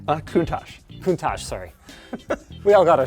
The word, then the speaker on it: Countach: I needed to be coached on how to pronounce Lamborghini. It's Countach? Countach. Countach, sorry.